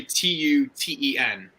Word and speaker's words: Tuten: hands off to 210 I don't know how to pronounce his last name 210 it's literally t-u-t-e-n Tuten there you go to 210.